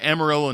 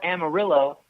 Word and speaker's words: Amarillo: change your world well in Spanish the Double L is pronounced as a wife out right Mario and if you're going to call it Amarillo I expect that you